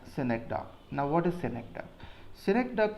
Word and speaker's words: synecdoche: The correct pronunciation of this word is synecdoche, but okay, we will pronounce it as synecdoche.